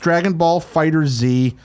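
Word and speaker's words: Dragon Ball FighterZ: Yes, I know it's pronounced Dragon Ball Fighter Z.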